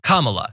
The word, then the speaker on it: Kamala: who was on, said her name is pronounced comma, like the punctuation mark, Kamala.